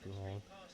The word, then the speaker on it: Pouhon: Now, forgive the pronunciation of this. I know it's turn 10. I think it's pronounced Pouhon.